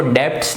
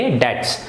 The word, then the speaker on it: debts: एंड द डेट्स, देखिए इसको डेब्ट्स नहीं पढ़ेंगे, इसमें जो बी है ये साइलेंट रहता है तो हम इसको डेब्ट्स नहीं पढ़ेंगे, बी विल बी साइलेंट, लिखा जरूर जाएगा लेकिन बोला नहीं जाएगा। तो इसको क्या पढ़ेंगे, बी को अगर हम हटा देंगे तो DETS, तो क्या बोलेंगे, डेट्स।